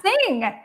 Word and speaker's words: Singh: Her last name is Singh. God. There's a silent H at the end.